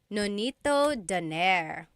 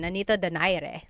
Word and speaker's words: Nonito Donaire: So our first poll here is going to be Manny Pacquiao versus Nonito Donaire, or is in the Tagalog pronunciation, Nonito Donaire.